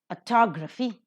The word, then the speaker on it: autography: Autography, second syllable is accented.